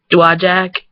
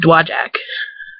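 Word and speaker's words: Dowagiac: like that doesn't sound weird um or like dwajak it's spelled d-o-w-a-g-i but it's always pronounced dwajak like that's just kind of how we pronounce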